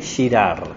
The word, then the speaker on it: Girard: hoy es sobre rené girard cómo se escribe rené cómo suena sin acento y girar es como gira y termina de girar no es pensador francés